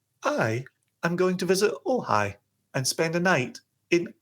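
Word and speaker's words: Ojai: Uh, O J A I I am going to visit Ohhigh and spend a night in Ohhigh.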